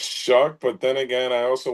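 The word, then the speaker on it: Shough: Pronunciation of Tyler, because I say Shook. Like, It's Shug. I don't know. I think it's Shuck, but then again, I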